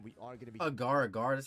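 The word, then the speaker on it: Agar Agar: that great and we are going to be Agaragar that's how you say her name bro I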